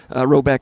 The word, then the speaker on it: Rhoback: Roback has released a lot of new items within their new licensed game day collection.